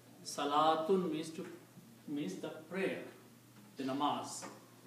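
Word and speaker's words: صلاة: The word that we can create from this is Salatun. Salatun means prayer. Salatun means prayer. This is also written one more way. It is written with a vav, but vav is not recited. Salatun.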